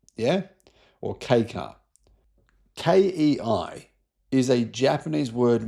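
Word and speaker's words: kei car: It's a widebody, sportier version of the Honda N1 EV, the key car. Yeah. Or K car. Ki is a Japanese word meaning light or small. And it's pronounced K car. the letter K.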